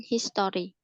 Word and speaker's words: history: O-nya nggak jelas ya, jadi kayak lebih ke history, bukan history.